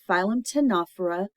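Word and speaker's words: Ctenophora: skeleton then we have the phm tanur the C is silent the phym tanur are comb jellies which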